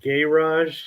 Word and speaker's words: garage: you guys call it gay rush and it's like running a carriage a garage now it's like pronounced it's like it's spelled the same but we just pronounce it differently here it's like right say